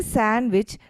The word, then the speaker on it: sandwich: couple of examples sandwich when I say sandwich the stress is placed on the ah part which is English a